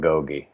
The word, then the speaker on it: Agoge: First of all, I'm glad you're calling it Agogi. I've heard different pronunciations, but that's what I like to call it. And any analysis of history says that that's the way you pronunciate it.